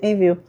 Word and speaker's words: Envu: Na dúvida a gente escreve, ó, envu, mas a gente pronuncia envio.